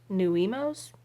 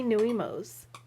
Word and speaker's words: nuiMOs: how to say it i think it's called new emos it's n-u-i-m-o-s small friends big style